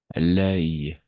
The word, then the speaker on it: l'œil: ¿Cómo se pronuncia? L'œil, l'œil.